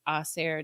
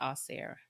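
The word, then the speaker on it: Ausar: um shout out to oer Thompson um we all pronounce his name wrong but I believe it's oair Thompson um they said that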